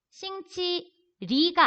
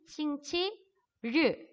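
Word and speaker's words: 星期日: 싱치리가 아니에요. 알 다음에 오는 아이는 으 발음이 난다는 거. 그래서 얘는 싱치르. 입천장에 혀가 닿지 않았어요.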